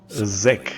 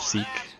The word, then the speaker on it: Zeke: Zek. Messed him up. Like they say in the French dub, they say Zek instead of Zeke. Because that's how you say it in French.